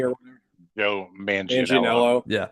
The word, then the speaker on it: Manganiello: I always get his fucking name wrong. Joe Mangione or whatever. Joe Manganiello.